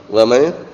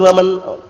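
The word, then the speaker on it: وَمَن: Wa may? Apa? Benar waman, awalnya waman.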